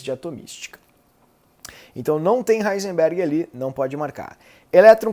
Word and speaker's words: Heisenberg: Princípio da incerteza, a gente nem chegou, é o clássico Heisenberg, ou Heisenberg, pronunciando corretamente, evidentemente.